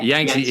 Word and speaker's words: Yangtze: Is it the Yangtze River? Is that how I pronounce it? Yangtze. Terrible. That's it. Yeah. Yangtze.